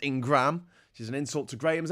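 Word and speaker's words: Ingraham: and Laura ingrah Ingram it's in Graham but it's pronounced Ingram she's an insult to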